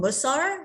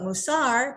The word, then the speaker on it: mussar: and sometimes it's called mussar that's when it's there it's it's it's yiddish um iteration but musar because the hebrew language always has the accent of the last syllable is what it's called